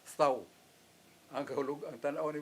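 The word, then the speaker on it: thau: Why does God order to make a sign of the cross on their forehead, the thou, T-H-A-U, pronounced thou.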